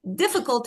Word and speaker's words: difficult: Listen, I say difficult.